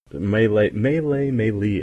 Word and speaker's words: melee: I think there's I think there's a couple ways. Melee. I say melee. Melee. Melee. I've heard melee. Melee. They're both good.